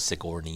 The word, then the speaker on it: Sigourney: Denise says Sigourney is also mispronounced a lot, and it is Sigourney.